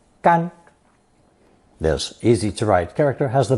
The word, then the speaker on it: 甘: It's pronounced first tone, 干, gan.